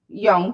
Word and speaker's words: Jung: Jung, the Swiss psychologist and psych analyst and young. Thank you very much. They wait. The pronunciation that is okay.